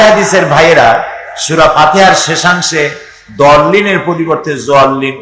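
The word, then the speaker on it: الضَّالِّين: সেই জন্য জল্লিন যদি কেউ পড়ে তাহলে নামাজ অশুদ্ধ হয়ে যাবে। এটা দল্লিন, গায়রিল মাগদুবি আলাইহিম ওয়ালা দল্লিন, দালও না আর জও না, উচ্চারণ হবে এর মাঝখান দিয়া, দল্লিন।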